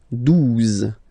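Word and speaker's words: douze: Okay, 12. 12. O-U, the two together will give you the sound OO. Okay, and then Z. 12. 12.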